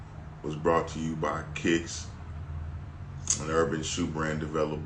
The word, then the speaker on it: Quiks: But this episode was brought to you by Kicks, an urban shoe brand developed by yours truly. It's spelled Quiks.